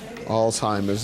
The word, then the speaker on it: Alzheimer's: Um, I'm glad you pronounced that word properly. Alzheimer's, you know, cuz I've heard it differently.